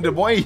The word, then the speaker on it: Des Moines: Oh, we're in Des Moines. We're still in Des Moines. Des Moines? How do you actually pronounce that? Des Moines. Des Moines. Des Moines. It's Des Moines.